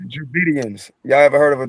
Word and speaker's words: Dravidians: The Travidian people. The Dravidians. Yeah.